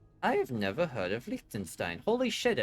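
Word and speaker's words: Liechtenstein: I have never heard of Likenstein. Holy It's small. That is tiny. Yeah. No, it's pronouncenstein because it's German.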